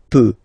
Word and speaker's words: peux: So je peux, okay? Final x not pronounced here, okay? So you've got x, but you don't pronounce it. So basically you get the sound peut, je peux, okay?